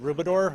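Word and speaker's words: Rubedor: you director morning everybody my name is rubidor i'm the director of the neighborhood and community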